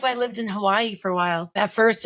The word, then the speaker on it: Hawaii: Yeah, because then the OG Hawaiians too, like all the W's are supposed to be pronounced like V's, Yep. right? So it's supposed to be Hawaii, and so it's just Mhm.